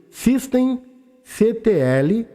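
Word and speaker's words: systemctl: o serviço do apache2 pronuncia-se System CTL a relativo no Debian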